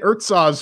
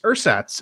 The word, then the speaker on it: Ersatz: name of this game I've been calling it earth saws for like a week and a half but apparently it's ersatz and it's developed by